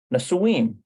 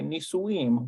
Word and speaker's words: נישואים: Nasuim. No. No, that's not it either. Nun Samik Vav. גדי ומעיין נישואים. Nisuim. גדי ומעיין נישואים. Nisuim. Okay, Nisuim.